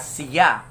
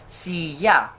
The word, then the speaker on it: siya: syllable c and yeah so it must be pronounced as siya however the researcher observed and noticed that the respondent pronounced it as siya so there we can see that the word